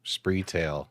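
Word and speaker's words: Spreetail: I I would say that the retailer actually rhymes with retail. Ah, Spree Tail.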